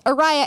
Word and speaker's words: Ariah: tell people aria hand because it's Araya and my name has a silent h but then but it's